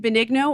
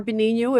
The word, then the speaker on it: Benigno: Oh, you went with the Italian. I like it. I can't get that hard G in there, but tell us your name, your last name. Helene Benigno or Benigno. If you're from Italy, I will accept both. And welcome to the studio.